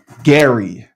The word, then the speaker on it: Gerry: not to be a mommy volcano Bethany Hart Gary I say it right row yep you got